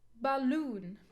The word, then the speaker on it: balloon: Divine divine balloon balloon balloon no balloon it's not balloon balloon here the schwa sound we cannot stress sound or the syllable the weak syllable so we put the stress on the second syllable design yeah the first